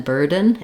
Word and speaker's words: burden: I'm releasing right into a syllabic N without using any vowel. And that sounds slightly different than burden. If I say burden, my burden, it's probably not going to sound the same as a typical native speaker of American English.